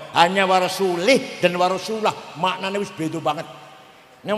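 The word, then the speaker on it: وَرَسُولُهُ: Wa annallaha bari'um minal musyrikin wa rasulih. Allah tidak melindungi orang musyrik dan tidak melindungi Rasulullah. Salah bacanya itu. Yang benar wa annallaha bari'um minal musyrikin wa rasulah.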